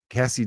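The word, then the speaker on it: Cazzie: dated Larry David's daughter Cassie David or Casey David c-a-z-i-e I think Cassie's how you pronounce it um then it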